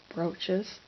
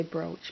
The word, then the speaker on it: brooch: What I have here are three brooches. I I I live in the Midwest, so I say brooch, but the correct pronunciation is brooch.